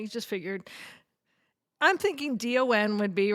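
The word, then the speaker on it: Dahn: I'm thinking D O N would be right. Maybe she's going to D A H N. Don.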